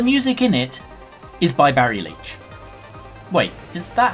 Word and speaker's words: Barry Leitch: music that the music in it is by… Barry Leitch. Wait is that how you pronounce it? Yes, Barry Leitch.